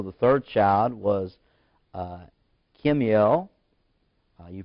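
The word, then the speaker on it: Kemuel: there was also the third child was uh kimmiel you pronounce that with k-e-m Slash u e l u e l Kim UL the fall of Aram and keys did Keys it that's pronounced k-e-s-e-d I want to say cheese but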